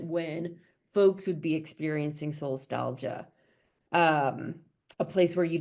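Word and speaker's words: solastalgia: echo stress, echo distress, and I hope I pronounced this right, solstalgia. Mhm. First of all, what does that last one mean? Did I say it? Yeah. Yeah, you did. Um, so soulstalgia was coined um I don't know 20 or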